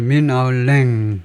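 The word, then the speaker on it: Min Aung Hlaing: 그래서 민 아울랭 이 정도로 발음을 하고요.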